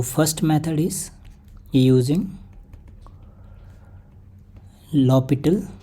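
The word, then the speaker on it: L'Hôpital: तो first method is using लॉपिटल। एल हॉस्पिटल को हम लोग लॉपिटल पढ़ते हैं। यहाँ पे H साइलेंट होता है।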